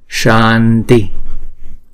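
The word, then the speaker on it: शान्ति: Chữ S này chúng ta ển cong cái lưỡi lại, không phải là uốn cái lưỡi lại mà ển cong cái lưng cái lưỡi lên á. Thấy không? Cái lưng của cái lưỡi mình ển cong lên trên vòm trên, mình đọc là sha sha. Shanti.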